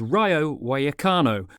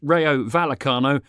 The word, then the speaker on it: Rayo Vallecano: there are even more teams for example there's Ryo wakano which to English eyes looks like it's pronounced Ryo valano but I thought I'd have a crack the